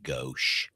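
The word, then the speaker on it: gauche: Go is spelled g a u c h e and it's how I say it.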